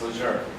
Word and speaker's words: Lejeune: Well, how do you pronounce this one? Lejeune? That's right, it's Lejeune.